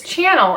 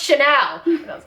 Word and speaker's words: Chanel: like look Jenice it's channel and then some lady at the stand it just most detesting look on her face is just like it's pronounced Chanel well I'm sorry again